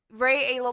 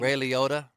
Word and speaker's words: Ray Liotta: Ray Aolo, the one that died. Whatever. Okay, keep going. Ray Aolo. I'm so mad. I can't pronounce his name. Ray Liotta.